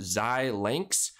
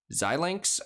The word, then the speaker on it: Xilinx: i pronounce it here i think it's pronounced zai links xilinx i might be horribly wrong